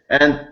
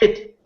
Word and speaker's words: et: For example, 8, which means and, it is nowadays pronounced A, not 8.